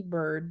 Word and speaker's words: Byrd: Bird. Bird is spelled BYRD.